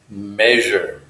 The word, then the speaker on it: measure: I'm going to measure this consonant is more like a CH you use your voice measure measure I disagree with